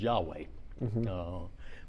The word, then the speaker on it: Yahweh: So every time it's written as just initials, which we put vowels in and pronounce as Yahweh.